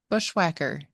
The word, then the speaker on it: bushwhacker: word today okay bushwhacker you really need to um pronounce the h on that bushwhacker yeah quacker Bush quacker